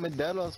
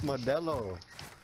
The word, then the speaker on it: Modelo: It's not Mandelos, fool, it's Modelo. Hi. Whatever. No, it's, gotta say it right.